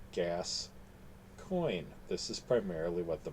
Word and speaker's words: Gascoyne: Gascoyne, part of the key to the book is the title is Gascoyne, which is spelled like the region in, somewhat like the region in France, but gas coin.